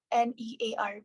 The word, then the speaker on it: hornear: Hornear po. Hornear. H-O-R? Near, ma'am. Hor. Okay, hornear. Hor. Please, R. You have to pronounce R.